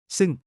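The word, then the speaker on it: ซึ่ง: ท ี ่ ท ี ่ ท ี ่ ซ ึ ่ ง Sounds like psalm with an EU sound, this is the formal, fancy cousin. ซ ึ ่ ง ซ ึ ่ ง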